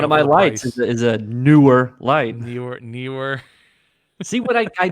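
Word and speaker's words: Neewer: I've got a newer, and I call it newer. I don't know why people call it newer because to me, NEE is knee. So newer.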